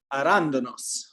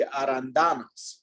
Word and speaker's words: arándanos: Arándanos. Arándanos. Yeah, sometimes when you see this little accent mark, you just kind of have to, it means you shift the emphasis.